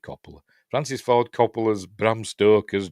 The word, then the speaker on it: Coppola: Francis Ford Capola's or Coppola. I pronounce it Coppola.